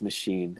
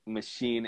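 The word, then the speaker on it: Maschine: show you what this but machine it's spelled with an s like it's like machine but it's s and it's by native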